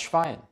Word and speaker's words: Schwein: Stehen SCH zusammen, werden sie im Deutschen immer sch ausgesprochen. Wie zum Beispiel im Englischen in shake, shut oder shift. Das Schwein, die Schweiz, schwanger.